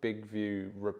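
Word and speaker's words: BIGVU: the other day called big view reporter it's spelt big view big vu and what it is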